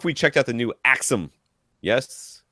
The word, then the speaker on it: AXIIM: Wanted to know if we checked out the new Axum. Yes, it's AXIIM, and it's pronounced Axum.